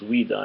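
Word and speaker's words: Ouidah: But anyway, so, yeah, in Benin, and I believe it's pronounced Ouida in Africa, they have a temple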